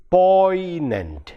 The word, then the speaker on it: poignant: for example in a word like poignant it is actually the word is p-o-i-g-n-a-n-t poi this g is silent but but because of the influence of malayalam we tend to pronounce that sound also and say poignant instead